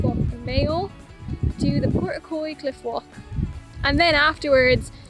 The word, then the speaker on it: Portacloy: It was called Portacloy, so I was saying it wrong in all the clips earlier, but basically it's just